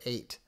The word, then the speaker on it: eight: F sound like laughs but the silent G H in like in the word eight yeah we would get